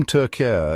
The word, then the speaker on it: Türkiye: country in international discussions the name tur is the Turkish pronunciation of the country's name and is deeply intertwined